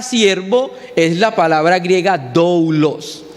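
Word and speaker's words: δοῦλος: Pero resulta que la palabra utilizada para siervo es la palabra griega doulos. Se lee doulos, se escribe doulos.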